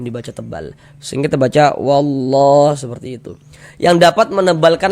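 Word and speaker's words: والله: Selanjutnya di sini wallah ini kita baca wallah jangan dibaca wallaha jangan dibaca kayak gitu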